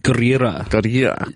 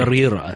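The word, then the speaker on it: Gurira: Denai Guerrera. You got to roll your R's. No, you do it for me. Guerrera.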